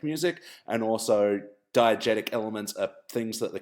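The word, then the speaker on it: diegetic: sorry Jordan you were so close but it's pronounced diagetic music and also diagetic elements are things that the characters can hear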